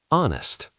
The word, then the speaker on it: honest: Honest. An honest person. H is silent.